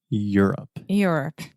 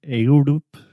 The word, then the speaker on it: Europe: hear a lot of ayodup a lot of Europe but we just say you're here you're going to the mall Europe Europe there we go